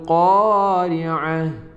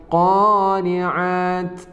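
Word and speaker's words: الْقَارِعَة: Di sini kita membacanya sebagai 'tu ', tetapi ketika kita berhenti sejenak: wama adrakamal qariah. Bukan qoriat. Bukan qoriat, tapi qariah.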